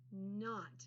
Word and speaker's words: knot: In knot. Not because Calvin doesn't want to have a knot, but somehow his shoestrings always get in a knot. In knot. Remember that K is silent.